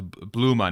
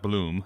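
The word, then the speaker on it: Blume: uh well at first somebody in the comments uh helped me pronounce bluma not bloom it was blue yeah yeah like like porsche right kind of like similar to that so he seemed to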